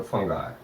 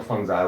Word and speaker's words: fungi: We have to study the after bacteria the fungi or fungi, whatever you like. Pronunciation, both pronunciation are right.